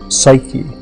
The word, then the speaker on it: psyche: was giving a name the name was Sue k and Greek psyche is how we pronounce it now and the word means